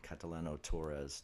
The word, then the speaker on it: Catalano-Torres: I'm still getting used to the married name, Catalano-Torres.